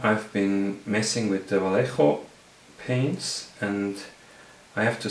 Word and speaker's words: Vallejo: I think it's Spanish, and then it'll be pronounced Vallejo paints, and they are not really available in Switzerland.